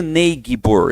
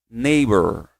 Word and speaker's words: neighbor: Vizinho, eu não digo nebor. Esse G não sai, tá, pessoal? Você vai cortar o G e o H aqui, ó. É mais ou menos igual o daughter lá, ó. Você vai cortar essas duas letrinhas. Você vai falar assim, ó.